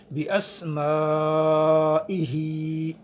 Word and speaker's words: باسمائہ: مدہ بھی کہتے ہیں۔ کما ہوا باسمائہ، میم کے بعد الف بھی ہے، اوپر مد بھی ہے، یہ مد متصل ہے، اسے 2 تا 5 الف لمبا کیا جا سکتا ہے۔ اس کے بعد آخر میں ہا ہے، حروف حلقی میں سے ہے، اور اس کے نیچے کھڑا زیر ہے، اسے ایک الف کی مقدار لمبا کریں گے۔ باسمائہ وصفاتہ، صاد